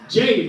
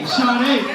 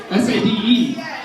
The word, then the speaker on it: Sade: Jade, right? Jade? It's Sade.